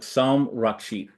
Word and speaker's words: Soum Rakshit: Sam Rashid, am I pronouncing I think some I thought I was No, no, you're perfect. Yeah, perfect. Yeah. Dr. Sam Rashid, thank you so much for coming on and